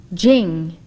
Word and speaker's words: Ching: power spelled t e jing spelled c h i n g jing is